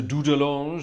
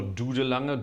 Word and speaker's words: Dudelange: We're back in the organ of Luxembourg tonight, to Dudelange or Dudelange, Dudelingen, however you want to pronounce it, in the wonderful country of Luxembourg, which is a marvellous instrument.